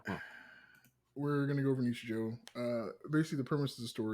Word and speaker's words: Nichijou: Nichijou. Nichijou. At least that's how I pronounce it.